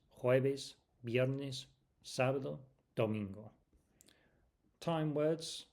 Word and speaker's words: jueves: jueves jueves I'll say that again cuz that's quite a strange sound for non-native speakers. jueves Remember what we said about the v sound